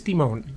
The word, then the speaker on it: Demone: He did leave a comment a couple of days ago of how to pronounce it, and it said the emphasis was on the O, so Demone? I think it's Demone.